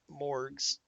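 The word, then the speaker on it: Morgh's: long it's been and morgues editor is spelled m-o-r-g-h apostrophe s morgz editor and i don't know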